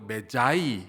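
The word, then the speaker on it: magi: 마고이라고 기록을 해 놨어요 이거를 이제 영어 발음으로는 마고이라고 하지 않고 매자이 그렇게 하는데이 매자이라는 단어에서 나온 단어가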